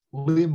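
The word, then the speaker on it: Lympne: place called lim i it's spelt l y m p and e but it's pronounced limb within silent pne and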